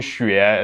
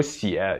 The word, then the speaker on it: 血: So it's 是的血. 对的 And if it like go with other characters and become a word, then it should be pronounced as 血 So if it's a